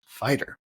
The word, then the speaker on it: FYTR: She works with individuals looking to redefine their reality, which led to the creation of her coaching business, Finding Your True Reality, or FYTR, pronounced fighter.